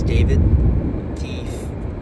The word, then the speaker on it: D4VD: I don't know how to pronounce the name. I think it's David.